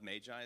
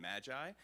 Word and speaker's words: Magi: uh the Magi and my pronunciation of Magi is going to shift between Magi and Magi because it's pronounced neither of those things in Greek so we're just going